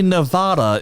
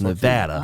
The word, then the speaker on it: Nevada: mad at you apparently another one that people mispronounce is Nevada Nevada oh apparently Nevada is not how they like it to be pronounced it's Nevada Nevada they also like yeah